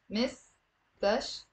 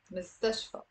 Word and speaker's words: مستشفى: It's three syllables. Most of my students have a difficulty pronouncing this word. Say it with me. مستشفى, مستشفى.